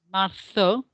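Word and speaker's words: marzo: the year well remember the zed sound if we're in spain is going to be a first sound so it's martho then there's the j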